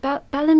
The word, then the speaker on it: Balham: So there was the Bedford in Balham I did. Is it Balham you pronounce it?